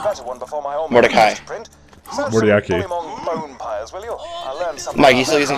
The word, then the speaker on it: Mordecai: Mordiaki. Hell yeah! Oh, you. How do you say his name? I'd like a better one before my own Mordecai.